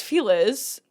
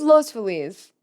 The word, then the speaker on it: Los Feliz: I thought it was los feliz. No, you say feliz naad. I know. I know. But we in LA we pronounce it the non- Spanish way.